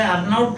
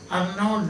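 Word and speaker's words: Arnaut: n a u t But the T is silent. So we don't say unote Daniel but Arnold Daniel.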